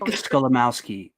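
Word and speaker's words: Skolimowski: It's just it's spelled exactly how it sounds. Gotcha. It's like my last name. Yeah. So, Scholamowski.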